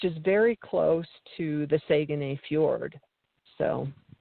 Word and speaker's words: Saguenay: You said Saguenay correctly compared to me. You got it. You know how to say it. Saguenay, not Saguenay. I know.